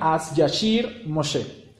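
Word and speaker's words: אז ישיר משה: En hebreo, esas palabras, lo que acabamos de ver en español, en hebreo se pronunciarían As Yashir Moshe.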